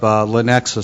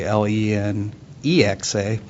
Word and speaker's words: Lenexa: So if you look up Lenexa spelled with Lenaxa, you won't find it because it's actually Lenexa, but that's okay.